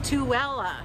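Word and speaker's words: Tooele: say this town's name it's tuella well well uh to ella that makes no sense though because there's no w in it to ella the lady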